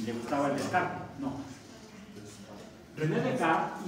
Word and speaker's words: René Descartes: No, René Descartes. Bueno, es mejor pronunciarlo en francés. ¿Sí? Era francés. René Descartes.